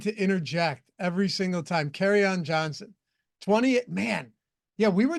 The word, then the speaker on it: Kerryon Johnson: Because I would call him Curryon Johnson. And Kyle just absolutely, for some reason, had a true disdain for me whenever I would pronounce it like that.